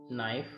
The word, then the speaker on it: knife: You circle the silent letter. Right. Knife.